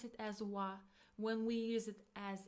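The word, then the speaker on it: は: It is pronounced as wa wa but we write it as hiragana ha ha. So when we use it as a particle we pronounce it as wa.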